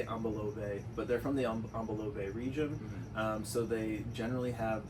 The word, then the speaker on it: Ambilobe: So they're pronounced Ambilobe. I've heard it Ambilobe or Ambilobe is like another way that I've heard it.